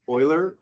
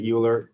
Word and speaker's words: Euler: Um, so I pronounce this um, Oiler, but some students say Uler. I guess it really doesn't matter, but I pronounce it oiler like this.